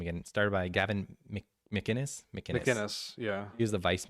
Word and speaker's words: McInnes: McInnes.